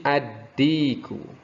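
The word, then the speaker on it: الديك: Kemudian yang kedua, huruf dal itu termasuk pada huruf syamsiyah, ad-diku. Ad-diku, bukan al, tapi ad-diku.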